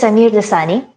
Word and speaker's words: Sameer Dossani: My guest today is Samir Dasani. Correct me if I'm pronouncing your name wrong.